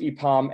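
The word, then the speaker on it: IPAM: rest of the country a pom is its IP AMS pronounced a pom and we work closely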